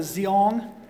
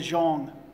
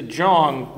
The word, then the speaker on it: Zeong: yeah nope it is it's pronounced with a J it's just like uh it's just like a lot of people call it like the zeong at the end of